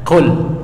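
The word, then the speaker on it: قُل: Kalau baca pakai kaf, kul huwallahu ahad, makanlah. Allah itu esa. Apa artinya kalau pakai qaf katakanlah qul. Jadi beda, jauh banget artinya itu.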